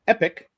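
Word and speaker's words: Epique: all one word at Epic Epi qu Epi QE yes it's pronounced epic and not AEK or OPAC or anything like that it is the French spelling of Epic e p i qume Scott Miller epic.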